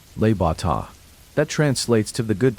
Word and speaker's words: Le Bon Temps: Tony suggested we all go to a little restaurant just slightly out of the area, called Le Bon Temps, pronounced Le Bata.